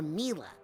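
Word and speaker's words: Milla: Is it pronounced Mia or Mila? Well, it's short for Camila, you know? But when I first started here, Sasha mispronounced it and I thought it was so cute. I didn't have the heart to correct him, and now I kind of like it, darling.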